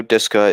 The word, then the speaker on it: desu ka: Ogenki desu ka? Okay, so I know Deska is what it is.